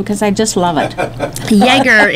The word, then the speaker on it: Ioerger: Spell that again, because I just love it. Yeager, it's IOERGER, and they are from Minonk, Illinois.